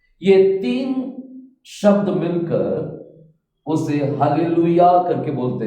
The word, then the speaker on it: हालेलुया: होना चाहिए यहां पर हालेलुया शब्द आने के समय इस तरह लिखा जाना चाहिए हाले लू एंड देन यहां पर या आना चाहिए ना ये हालेलुया जो शब्द